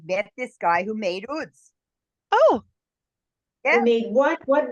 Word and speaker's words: oud: mys Israel I met this guy who made oods oh yeah made what what what's that word